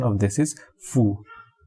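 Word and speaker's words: 夫: And the pronunciation of this is fu. Chinese pronunciation pinyin is fu, the first tone, with the first tone.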